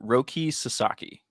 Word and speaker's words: Roki Sasaki: a lot Roi I looked up how to pronounce it Roki Sasaki Roki suzaki ah I'm a Yankee fan I'm